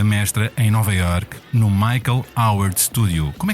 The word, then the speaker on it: Michael Howard: mais com esta mestra em Nova York, no Michael Howard Studio. Como é que dirias? Como é que se diz esta escola, com a pronúncia certa?